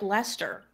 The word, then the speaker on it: Leicester: are like they're like why is Lester spelled like that but pronounced like Lester do you want to